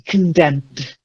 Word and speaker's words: condemned: And then another silent E, condemned. Condemned.